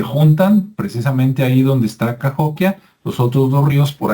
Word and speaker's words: Cahokia: cahokia qué es cahokia que se escribe kokia verdad c a h o k i a pero en Estados Unidos es cahokia y es un lugar